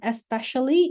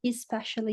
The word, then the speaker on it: especially: Tadi ini bukan especially, ini especially. Jadi bacanya I.